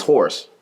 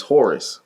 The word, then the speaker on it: Horus: gives you a little my pseudo name is horse but my name is horus right so i just said you know because that's the way people pronounce it so i just like